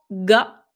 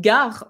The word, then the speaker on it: が: En fait, le prononcer purement ga, donc comme, une gare en français, c'est pas une erreur